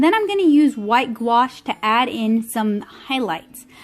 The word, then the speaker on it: gouache: there are some fantastic gouache artists here on youtube g-o-u-a-c-h-e it's not pronounced like it's spelled and i would recommend